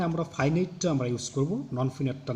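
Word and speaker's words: non-finite: একই বানান, তবে এখানে উচ্চারণটা এখানে ফাইনাইট হবে না, নন ফিনাইট হবে, আর এখানে হবে ফাইনাইট।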